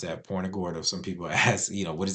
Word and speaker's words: Punta Gorda: And that's how you pronounce that, Punta Gorda.